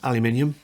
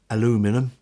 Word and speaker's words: aluminium: newer boom pole is aluminium or as you americans say aluminum and the this one